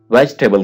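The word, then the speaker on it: vegetable: सब्जी को इंग्लिश में वेजिटेबल कहते हैं, वेजिटेबल। अक्सर लोग इसको प्रोनाउंस करते हैं वेजिटेबल। आपने कहना है वेज टेबल, वेज टेबल।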